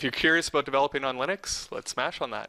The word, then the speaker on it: Linux: going around that says my name is Linus tals and I pronounce Linux Linux that's what he says